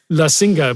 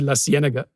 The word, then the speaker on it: La Cienega: And then there's La Singa, but it's actually La Cienega because it's Spanish.